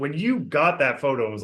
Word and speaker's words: gho: off of these L mountains in the background go pronouncing it right gho it's it's these robe like um things that